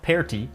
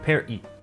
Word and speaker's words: party: The first vowel sound is different, and the T is pronounced like a glottal stop. Not per-ti, but per-i. Here notice that tonight is